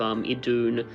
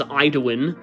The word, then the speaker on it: Idun: I did have this one already, but this is a pretty cool looking rare card of Idun, who I used to pronounce as Iduin.